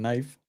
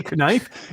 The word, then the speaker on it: knife: don't get me started on silent letters and knife knife do you not do you say k knife if you say kif I'm kicking you off the show right now tell me you